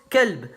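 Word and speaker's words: كلب: Par exemple, en langue arabe, le mot chien se prononce kelb et le mot cœur qalb.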